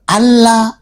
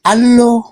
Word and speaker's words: Allah: Ada juga yang bilang e itu ada yang bilang huruf A-nya dua itu huruf A-nya dua itu jadi O jadi Allah dengan tong biasanya Kristen yang ada juga ada juga yang eh r-nya didobel jadi Allah begitu jadi sebenarnya itu enggak